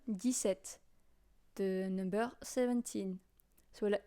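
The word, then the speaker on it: dix-sept: go with 17 now 17 is this at this set it's like if you were saying the number 10 and the number seven 10 s des set the number 17 so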